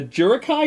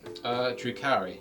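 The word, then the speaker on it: Drukhari: The Eldari and the Jurukai, how do you say it? Drukari.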